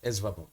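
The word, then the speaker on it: ESVARBN: How do you pronounce it? Um, E S V A R B U N. Esbap.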